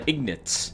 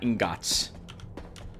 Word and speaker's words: ingots: ingot in here oh i always like to pronounce the ignits not ingots i suppose that would make me wrong then tim i need